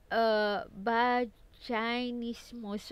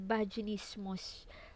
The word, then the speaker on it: vaginismus: But, vaginismus or vaginismus. Okay, so, pala kayo kung paano i-pronounce.